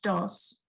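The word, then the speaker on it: Das: sandra can you no his last name is is d-a-s but but it's pronounced dos okay so but it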